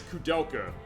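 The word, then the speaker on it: Koudelka: Actually, the first one that Cudela, that's how it's pronounced. I pro pronounce it code delka.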